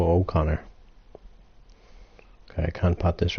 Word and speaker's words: O'Connor: think Brenda Moore is forgetting to pronounce his surname properly it is not Connor it's Joe O'Connor okay I can't pop